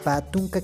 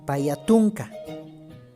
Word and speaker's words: patunka: Paya debería ser, ¿no es cierto? Payatunka. Pero no se escribe así, tampoco se pronuncia. Pa más tunka. Patunka 20.